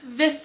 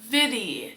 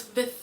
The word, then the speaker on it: Viðey: It is pronounced Vith Island, not Vidy. The weird little d looking thing is actually like a soft th like mother. So it's Vith Island.